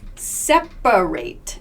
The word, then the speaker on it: separate: here in this word separate separate so we don't say separate in everyday speech this a right here becomes a schwa separate separate separate so